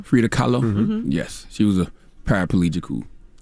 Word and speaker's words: Frida Kahlo: like uh i know i'm gonna pronounce her name wrong for frida kahlo hey fida carlo frida kahlo yes she was a paraplegical used to paint